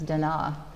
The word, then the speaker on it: Da Na: and Donna it states actually the most correct pronunciation as Dena and we will talk